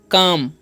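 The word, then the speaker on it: calm: silent है okay और सी एल एम है तो क्या पढ़ेंगे सेे हम काम है ना यहां पर भी एल साइलेंट है यानी कि एल रहता है तो एल जो है साइलेंट हो जाता है ए का उच्चारण आ हो जाता है ठीक है और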